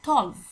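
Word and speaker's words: tolv: তারপরে আছে 12, যেটাকে সুইডিশে বলা হয় থলভ, ভি ভি উচ্চারণ করা হয় থলভ, কিন্তু যখন 12তম বলছি তখন বলা হচ্ছে থলফতে, থলফতে।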